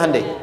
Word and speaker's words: Hyundai: bikin Honda sini HD hyundaikan dibacanya Handai sana apapun yang dibuat